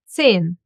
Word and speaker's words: Zehn: Zehn. The silent H in the middle of the word, and the Z gets pronounced as Z.